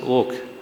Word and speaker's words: Oka: I had made a statement in the farewell function of justice oak written oka but pronounced as oak organized by the bar council of Maharashtra and Gua in Pune that we need bold and courageous judges.